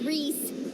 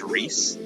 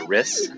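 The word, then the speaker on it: Rhys: Also, his name's Reese, I guess, is how it's pronounced. For 8 years, pronouncing it Riss.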